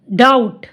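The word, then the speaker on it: doubt: डी का sound ड ओ यू को औ और बी इसमें साइलेंट है। टी का ट डाउट स औ ट साउ क औ न ट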